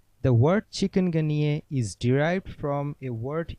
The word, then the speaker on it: chikungunya: chicken plus gun plus yay yes the correct pronunciation is chikungunya the word chikungunya is derived from a